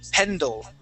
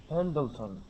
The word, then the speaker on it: Pendleton: Okay, but I want to work on pronouncing that D-L-E. So we're going to say Pendleton. Try that. Pendleton.